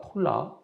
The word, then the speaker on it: 톨라: 이 돌라는 톨라라고 발음을 합니다. 톨라.